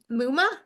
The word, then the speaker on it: Mumma: a new friend Muma rhymes with Puma a chiropractor and homeschooling